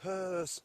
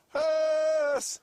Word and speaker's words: huush: Pronounce it again for me. Hearse. Yes! Hearse.